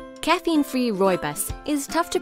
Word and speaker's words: Rooibos: caffeine-free Roy buus is tough to pronounce but easy to love Roy buus or red bush comes from South Africa where